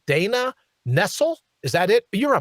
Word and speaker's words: Nessel: don't know how to pronounce her name dana nessel is that it you're a michigander wayne is was it nestle of course it is dana nessl look at that smug little look on her